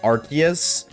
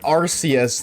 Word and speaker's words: Arceus: And this just proves that it's pronounced Archus because if it's pronounced Arus, then we just scooped up the Ars phone. And I don't think Game Freak will let that one slide.